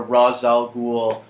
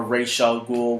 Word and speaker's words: Ra's al Ghul: is the season where Ra's al Ghul or Rachel pool whichever way you want to pronounce it the show even pronounced it both ways but yeah I really